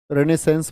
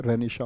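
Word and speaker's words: Renaissance: रेनेसेंस बोल देते हैं बहुत सच्चे, लेकिन इसका प्रोनाउंसिएशन, उच्चारण सही क्या होता है? रेनिशा होता है।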